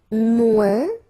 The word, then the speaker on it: moins: And then, moins. Same thing here. Remember, we don't pronounce the final S.